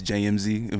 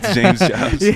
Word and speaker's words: JMZ JBZ: It's spelled JMZ, JBZ. Some people think that my name is JMZ, but it's James Jobs.